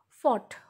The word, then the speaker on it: fought: Fought. Fought is the past form of fight. Here G-H is silent. F-O-U-G-H-T.